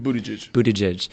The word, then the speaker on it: Buttigieg: Buttigieg.